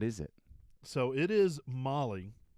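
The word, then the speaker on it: MOLLE: mole panel what is it so it is Molly it's Molly m-o-l-l-e-e um not Malay no so it's um I actually did the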